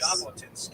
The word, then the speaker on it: Jabotinsky: Jabotinsky. You Oh. can imagine that's the way the French would spell it Okay, with the J as your well.